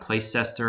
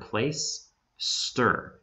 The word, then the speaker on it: Placester: place places one word place stir it's it's like you're placing something in the spot and then stir like stirring a drink place stir okay and